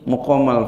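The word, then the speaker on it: مُقام: Nah, ini bacanya muqama. Kenapa muqama bacanya? Sudah ada indikasi di belakang ada aqoma yukimu nah, berarti dia nanti ya pakainya mukoma isi makannya pakainya mukom kalau dia nggak ada indikasi aqoma ya, nah itu bacanya makom ya kalau di sini mukom jadi biar cermat ukimal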